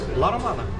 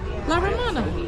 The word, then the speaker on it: La Romana: La Romana. La Romana.